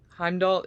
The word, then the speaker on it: Heimdall: Heimdall.